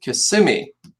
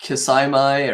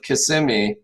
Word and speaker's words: Kissimmee: all right we are going to start with kissimmee and yes that is how you pronounce that it's not kisaimai or kiss kiss kissimmee or because it's kissing me so um advantages of kissimmee are you could also see you could say